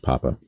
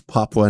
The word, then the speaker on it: Papua: but I always just thought it was pronounced Papa it would be Papa if it didn't have the you yeah well just to be safe call it Daddy New Guinea that doesn't sound safe man to the east of daddy New Guinea it's Papua New Guinea yeah and Northwest of